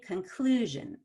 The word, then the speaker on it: conclusion: at the ion suffix when you have an ion suffix as in conclusion you want to stress one vowel to the left of ion so one vowel to the left is that red uuc conclusion and then when i